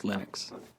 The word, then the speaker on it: Linux: speak finnish it's linos when i speak english it's linus and i really don't care how people pronounce my name but linux is always linux he developed a kernel